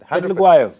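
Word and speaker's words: Phehlukwayo: So a pet, yeah, look, Pet look. Y, Why? Vayo. O. Oh, Pet look why? Vayo. There you go. Petluguayo.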